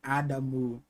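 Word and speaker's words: アダム: Nia turn technically at the way to pronounce Adam in the karakana would be adamu adamu right adamu um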